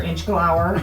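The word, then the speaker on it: Inchgower: So last week we did Inch Grower, or Inch Glower, as Doug tells everybody, that's how it's correctly pronounced.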